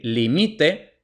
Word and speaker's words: límite: palabras Llanas las palabras Llanas son las que tienen el acento en la segunda sílaba empezando a contar desde detrás es decir límite entonces contamos la primera sílaba es t la segunda sílaba es mi la tercera sílaba es Li Entonces limite entonces como tiene el acento en la segunda sílaba Entonces es llana mesa Pues también la